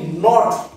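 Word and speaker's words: knot: বলতে হবে ঠিক আছে কে এন ও টি নট নট কে এন ও টি নট নট মানে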